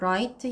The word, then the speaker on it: Wright: 여기서 W 발음이 안 나서 Wright 형제에 대해서 이야기했다.